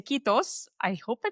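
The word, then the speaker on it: Kiitos: Um, hugely appreciate you and I'm going to say Kitos. I hope I pronounced it correctly so many years later.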